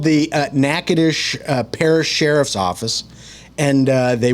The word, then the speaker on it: Natchitoches: Natchitoches.